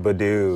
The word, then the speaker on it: Badoo: victims there right okay our next app you pronounce this badoo badoo okay now Badu is strictly an adult dating